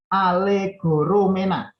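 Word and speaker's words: ἀλληγορούμενα: Alegoromena. Alegoromena. Ini bacanya alegoromena.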